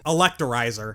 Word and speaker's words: Electirizer: In Pokémon Pearl, Elekid's rare item is the Electri- Electirizer.